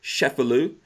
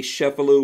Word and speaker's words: Cefalu: This is the book, Rat Snakes, Vincent A. Cefalu. We're going to get into that. That's the proper pronunciation, I believe.